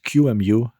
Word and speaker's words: QEMU: is q u but I believe that qmu is the most widely accepted pronunciation I'm going to cover